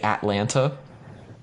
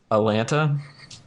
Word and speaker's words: Atlanta: as T's and say Atlanta. Mm-hmm. If they've lived here for a little while, they'll drop one of the T's, usually the first one, and so it becomes Atlanta.